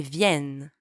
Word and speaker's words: viennent: And by the way, don't pronounce the ENT at the end, okay? Silent. Ils viennent.